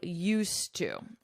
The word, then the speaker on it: used to: I used to. I used to. Notice my pronunciation. You don't hear this D at all.